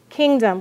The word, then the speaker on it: kingdom: Kingdom. Which one is accented? King. Which one is being lazy? Dumb. You hear a.